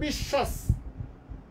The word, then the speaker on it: বিশ্বাস: দেখো বিশ্বাস, দন্তস্ব যদি আমি এখানে দেই তাহলে হয়ে যাচ্ছে উচ্চারণটা বিশ্বাস, কারণ দন্তস্বর উচ্চারণটা আসে এস, ইংরেজি এস এর মতো। ফলে এটা যেহেতু উচ্চারণটা বিশ্বাস, আমরা অবশ্যই তালব্যস্য দেব এবং শয়ের নিচে হস আসবে।